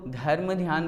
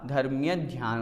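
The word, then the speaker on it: धर्म्य ध्यान: उच्चारण में ध्यान दें बहुत से लोग धर्म ध्यान बोलते हैं धर्म ध्यान नहीं होता धर्मीय ध्यान होता है अर्थात प्रारंभ के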